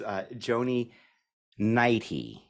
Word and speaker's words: Joni Neidigh: And today we have with us Joni Neidigh.